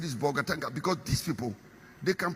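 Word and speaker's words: Bolgatanga: Then they'll pretend they can't pronounce bogatanga. They say, "Boganga langa something." I said, "It is bogatanga."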